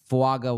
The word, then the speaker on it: Fuaga: I mean, I did hear earlier this offseason that Fuaga was. Am I pronouncing it correctly now?